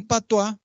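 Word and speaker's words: patois: Ah eso es un patua y patua se escribe p a t o is es una forma despectiva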